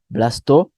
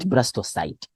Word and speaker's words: blastocyst: Yes, we call it blastula or blastocyst. Sometimes people don't know, don't give two answers, just pick one. Yeah, blastocyst or blastocyst. So that's how we pronounce, not blastocyte.